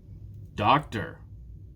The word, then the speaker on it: doctor: Which one is stressed? The first one again. Doctor.